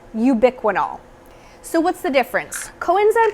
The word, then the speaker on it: ubiquinol: You're either just going to see straight up Coenzyme Q10, or you're going to see this fancy word right here that's pronounced ubiquinol.